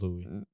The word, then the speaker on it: Louis: yeah Louis Vuitton Louis Louis Vuitton is a proper way to say it guys it's Louie Louis Vuitton drops limited